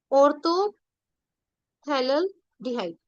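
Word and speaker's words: orthophthalaldehyde: P silent होगा, ऑर्थोथैलेल्डिहाइड।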